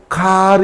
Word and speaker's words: car: it is not pronounced, but if it is in a sentence, that very word, and if just after that word there is another word with a vowel sound, then R is pronounced.